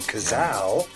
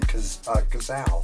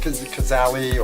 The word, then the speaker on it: Cazal: And that's how you got the name Cazal. oh wow, that was And a lot of people call it Cazali or Kazis or whatever back then also, but the real deal is spelled this way,